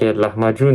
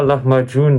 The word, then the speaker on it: Lahmacun: Ah, pourquoi Lahmacun, ça s'écrit avec le C? Parce que chez les Turcs, le C, c'est le djim des Arabes. Donc, c'est-à-dire, c'est le C se dit dj en turc.